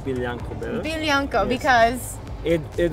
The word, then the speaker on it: Biljanko: What do you think of Biljanko? Biljanko, okay. That sounds like a pony name in Serbian. A pony Biljanko, name. Yes. Or Jankijana. Okay, I like Biljanko better.